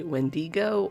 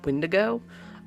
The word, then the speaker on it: Wendigo: Sometimes I may say Wendigo or Windigo.